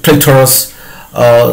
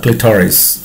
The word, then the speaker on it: clitoris: Here comes the clitoris. Okay, it is also called, it is clitoris, sometimes it is pronounced as the clitoris. Okay, actually its pronunciation is clitoris.